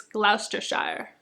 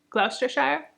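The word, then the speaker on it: Gloucestershire: and glistar nope glou it's spelled glester Shire but I know that's not how you say it I think it's gluster Shire gluster Shire they have fancy cars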